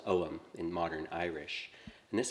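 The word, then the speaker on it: Ogham: but it's pronounced om in modern Irish and this alphabet is 5th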